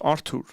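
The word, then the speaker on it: Artur: But it's not spelled like with an H. That's, obviously in my language, there's no H in there. It's a T. It's a hard T. So it's Arthur.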